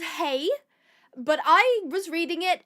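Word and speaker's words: hej: Swedish, which is is spelled H E J, but it's pronounced hey, but I was reading it as hedge.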